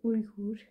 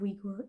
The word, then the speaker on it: Uyghur: what I found but in Dutch we say urugur which kind of goes with English spelling so